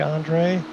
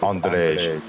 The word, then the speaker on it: Andrej: No, don't run away, Andre. I need you. It's Andrej.